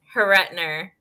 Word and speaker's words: Horruitiner: and i am here with miss dalen daylen pronounced your last name for me haritner haretner yeah that's what i thought all right so